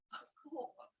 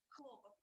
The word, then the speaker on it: хлопок: In the Russian language, homograph of name is pronounced with the first syllable stressed, хлопок. And if we translate with the first syllable stressed, хлопок, into Ukrainian, we will have bavovna.